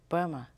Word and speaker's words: Burma: So you write it with M, but you pronounce it with the B. So I'm sure when the British were there, it wasn't that they were stupid. They heard B, so they called it Burma instead of Myanmar.